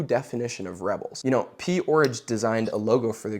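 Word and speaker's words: P-Orridge: They were a performance art group in the UK formed by somebody named Genesis P. Orridge, like porridge.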